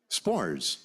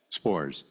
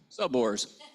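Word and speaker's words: Sborz: o r z but we all call him spores he calls himelf spores but you call him subor subor yeah right read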